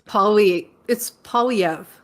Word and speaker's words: Poilievre: Now, I sort of agree with you, but I always want to say Poilievre, but I can't pronounce it. It's Poilievre.